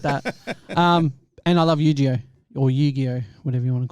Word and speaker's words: Yu-Gi-Oh!: And I love Yu-Gi-Oh! Or Yu-Gi-Oh! Whatever you want to call How it. do you say it? Yu-Gi-Oh! It's Yu-Gi-Oh. I just said it wrong the first time.